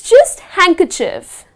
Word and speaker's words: handkerchief: But the moment you pronounce the word, the D is gone. You do not pronounce that letter. So the first one is, Handkerchief, so it’s just handkerchief.